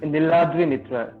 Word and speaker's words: Niladri Mitra: I have with me the wonderfully honest, I hope I don't butcher the pronunciation of your name, Niladri Mitra. Is that correct? It's Niladri Mitra.